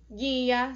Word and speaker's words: guia: As palavras em que o U não é pronunciado são açougue, guia, sangue, mangueira e guepardo.